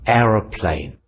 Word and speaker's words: aeroplane: This is an aeroplane. Aeroplane. Three syllables. Air is a glide. Ra is a short syllable. Plane is a third syllable. Where is the stress? Stress is on air.